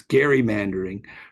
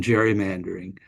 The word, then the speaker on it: gerrymandering: AOS would would generally try to pronounce it as Gary mandering rather than than Jerry mandering but we basically have Lo lost that dispute but it's a process